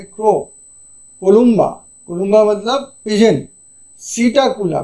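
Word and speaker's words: Psittacula: कोलबा कोलबा मतलब पिजन सीटा कुला पी लिखा हुआ है साइलेंट हो जाएगा सीटा कुला पैरेट टू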